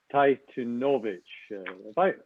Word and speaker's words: Tytunovitch: and that's where our guest today is Guy Tytunovitch. Am I pronouncing that right, Guy?